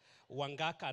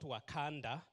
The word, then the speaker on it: Wangaka: my last name correctly because it's wangaka not wakanda so thank you and